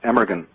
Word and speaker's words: Amergin: His name was Abergahain, which is actually pronounced Emergin. It looks, if you're reading it, Emergin, Amergin, but in Gaelic it's Abergahain. Abergahain is the head of our order.